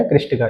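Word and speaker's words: Krishtakka: कृष्टिका।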